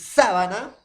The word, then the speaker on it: sábana: en la pronunciación profesor uno es sabana y el otro es sabana entonces entonces díganme ustedes jóvenes área no será igual o similar la pronunciación sabana sabana vuelvo a repetir sabana sabana será igual o parecida profesor no llenan parecidas no suenan iguales sabana sabana profesor no